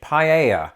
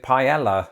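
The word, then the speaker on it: paella: of this would be the Spanish dish paa and notice how I said it there because that's not how I used to pronounce it when I lived in Britain me and most people I knew pronounced it pela and the first time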